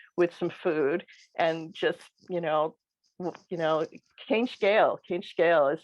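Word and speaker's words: Cén scéal: So he got us sitting around, the kitchen table with some food and just, Céin scale is how you say, what's this, literally like, what's the story, or, what's your story?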